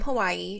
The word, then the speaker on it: Hawaii: People would just say Hawaii, but now people say Hawaii. Hawaii. W's are often like pronounced like a V.